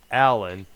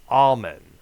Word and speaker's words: Allom: So instead of being Allen, it's Alman.